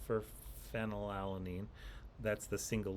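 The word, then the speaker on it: phenylalanine: F for phenol alanine. That's the single letter amino acid code. It is actually spelled with a PH that makes an F sound.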